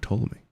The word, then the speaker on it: Ptolemy: The P is silent.